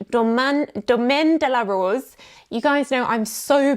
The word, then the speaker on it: Domaine de la Rose: comments from people telling me off for the pronunciation. So here you go. Domaine de la Rose. Domaine de la Rose.